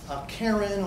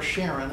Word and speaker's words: Charon: right Pluto's largest moon Charon or Sharon it's pronounced both ways on the left and